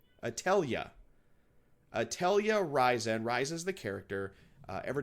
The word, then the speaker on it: Atelier: I was pronouncing Atelier at first, but then I was corrected. It's actually Atelier. Atelier Ryzen.